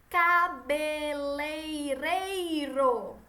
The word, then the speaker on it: cabeleireiro: a próxima cabeleireiro e olhem como está escrito no livro de você só leia devagarzinho a palavra sílaba possível sílaba por sílaba cabeleireiro certo não é cabeleireiro a cabelo lei nem certo pro mocinha York cabeleireiro certo